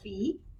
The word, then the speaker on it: phi: say Rho all right this symbol right here is called fee and then of course